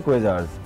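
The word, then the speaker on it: Quasars: ए आर एस और उसकी pronounce एशन है क्वेज आर्स क्यू यू ए एस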